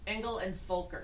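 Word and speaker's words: Engel & Völkers: Engel and Fulker. It's pronounced as an F. German. You say it quickly, like Fulker.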